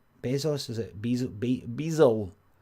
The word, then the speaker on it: Bezos: Jeff Bezos has been... Is that how you say his name? Bezos? Is it Bezos? You don't say the S, it's Bezos.